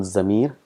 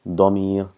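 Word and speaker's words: ضمير: It's not Zamir, it's Damir, Dad.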